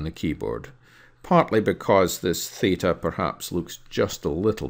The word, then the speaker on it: theta: The letter theta or theta we use quite a lot, both in the lowercase and in the uppercase.